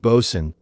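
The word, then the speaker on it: boatswain: The bosen, pronounced bosen, is another example.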